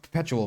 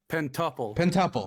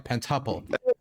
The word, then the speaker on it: Pentuple: Perpetual, right? Is it Perpetual? How do you pronounce it? Pentuple. Sorry, Pentuple. I thought it was Perpetual.